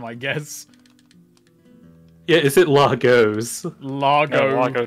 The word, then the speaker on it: Largo: guess yeah is it Lagos Largo Largo w ow oh there's no back there's no numbers it's gonna go Largo one lagot because it would in the French be pronounced Lago what what is the